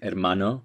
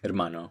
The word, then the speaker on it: hermano: Ladino would be hermano, and in Spanish it would be hermano.